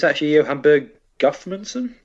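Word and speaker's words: Guðmundsson: So it's actually Johan Berg Guthmundsson? Guthmundsson.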